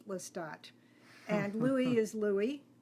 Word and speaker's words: Louis: lat and Louie is Louie the French pronunciation of Louis Armand is of course